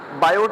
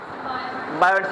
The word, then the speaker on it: Biot: इसमें T silent है। मैं बायोट नहीं कह रहा। सेवेट नहीं कह रहा। बायो एंड सेवे लॉ। ठीक है? टी साइलेंट है दोनों में।